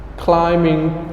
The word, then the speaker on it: climbing: hi King again hi King good Nemus tree climbing trees climbing trees we do not pronounce clamping okay so sound here we do